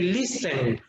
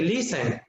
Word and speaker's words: listen: letter is silent and in listen the word the letter t is silent because we don't say listen we say listen in the words these